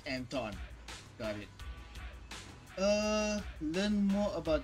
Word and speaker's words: Anton: Oh, it's pronounced Anton.